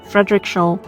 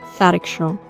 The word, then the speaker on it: Frederikshavn: So right now we are in this coastal town of Frederikshavn. It's funny. Earlier I pronounced it as Frederikshavn, but then I talked to some people and I got to know that it's pronounced as Frederikshavn.